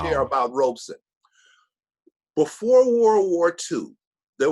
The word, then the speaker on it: Robeson: this man paul robeson two syllables robeson paul rosen most people